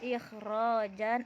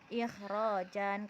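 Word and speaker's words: إخراجًا: Terus ketika terdapat pada masdar, contohnya akhraja yukhriju ikhrajan akhrij. Nah, contoh dalam kalimat summa yu'idukum fiha wa yukhrijukum ikhrajan, tidak dibaca yukhrijukum ikhraja, tapi dibacanya ikhrajan karena dia hamzah qata, dan hamzah qata itu tetap terbaca walaupun posisinya di tengah kalimat.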